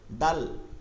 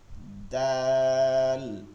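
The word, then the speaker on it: دال: দেখছেন বিপরীত, এটা নরম, মাখরাজের কারণে নরম হয়ে গেছে এবং এটার উচ্চারণটা কি হবে নরম এবং মোটা, আর এটা হচ্ছে চিকন এবং শক্ত। দাল দাল দাল দাল।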